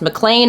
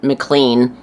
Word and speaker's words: McLean: have a mlan address and FYI it is pronounced mlan like John mlan on the Die Hard movies is not mlan like it is spelled I guess I don't